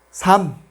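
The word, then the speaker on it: 삶: Solamente pronunciamos la segunda consonante m. Sam, sam, que significa vida.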